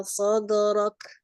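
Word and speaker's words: صدرك: Dalnya itu tipis, Wah, dalnya tipis ya. Sadrak. Dalnya tipis. Hanya sodnya saja yang tebal, tapi dalnya tipis.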